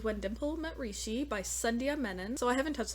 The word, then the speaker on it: Sandhya: So it actually says here, the closest pronunciation of her name for non-Hindi speakers is Sandhya, which is supposed to be rhymed with Stundia. Sandhya.